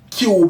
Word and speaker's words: QBE: know, when they can type in like Cube, it's spelled QBE.